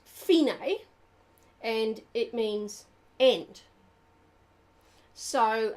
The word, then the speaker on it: fine: the second line DC are fine it's actually pronounced finae and it means end so our finite means